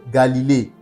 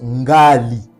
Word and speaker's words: Galilée: Donc le mot Galilée qui est un abus de langage se prononce Ngali.